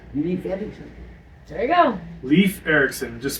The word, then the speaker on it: Leif Erikson: Leaf Erikson. That's perfect. Leaf Erickson. There you go. Leaf Erikson. Just spell it Leaf.